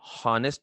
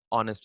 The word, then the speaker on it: honest: Pronunciation हॉनेस्ट नहीं होता है, हॉनेस्ट नहीं होता है, ऑनेस्ट होता है, Yes, ऑनेस्ट, sir.